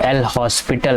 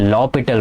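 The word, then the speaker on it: L'Hôpital: और जब इस टाइप की फॉर्म बनती है तो हम यहाँ पे एल हॉस्पिटल लगाते हैं, एल हॉस्पिटल, एल हॉस्पिटल बोलते हैं, लेकिन इसका प्रोनाउंसिएशन लॉपिटल रूल है।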